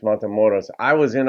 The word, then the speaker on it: Matamoros: love Billy's voice um he pronounced motos differently he said madam Morris and I guess that's more of um a gringo pronunciation who doesn't understand Spanish but I'm pretty sure it's mon moros I was in O